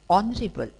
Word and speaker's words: honorable: mute for example honest honorable are all these words begin with h and h is silent so these words begin